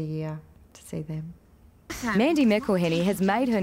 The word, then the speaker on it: McElhinny: How do you pronounce it? It's McElhinny.